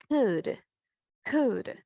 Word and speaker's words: could: Del verbo can, could.